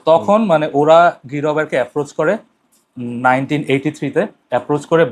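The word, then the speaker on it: Guy Robert: গাই রবার্ট, ওকে ইংলিশে pronounce করে গাই রবার্ট, আর ফ্রেঞ্চে বলে গি রবের।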